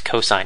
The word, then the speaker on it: cosine: function called cosine this we abbreviate cos but we still pronounce it as cosine of a coine of